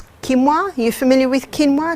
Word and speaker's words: quinoa: Another one is quinoa. Are you familiar with quinoa? It's spelled quinoa.